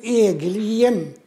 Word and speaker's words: Egelien: My name is Egelien. And could you spell it? Egelien.